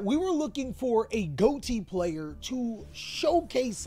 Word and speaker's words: Ghoti: guys are probably saying goatee is supposed to be spell fish because that's how it is phonetically but unfortunately could not be fumbled to bag on this and announced that it was goatee and not fish but that's hearing or